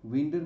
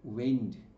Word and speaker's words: wind: আর WIND, উইন্ড মানে যখন close up, two close up বোঝাচ্ছে, তখন আমরা কি উচ্চারণ করছি দেখো, ওয়েন্ড, ওয়েন্ড, ই নেই কিন্তু AI উচ্চারণ হচ্ছে, ওয়েন্ড।